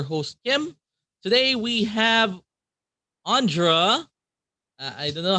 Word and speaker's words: Ondra: Uh, how do we pronounce your name, my friend? Yeah, it's Ondra. By the way, hello. I'm happy to be here. And yeah, so my name is Ondra.